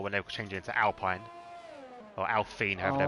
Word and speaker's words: Alpine: Yeah, it's going to be nice next year as well when they change it into Alpine. Or Alpine, however they're pronouncing it.